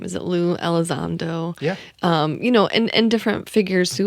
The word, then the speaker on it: Elizondo: I've seen, I can never remember how to pronounce his name. Is it Lou Elizondo?